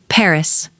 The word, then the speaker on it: Paris: "The emphasis is on the last syllable. Paris."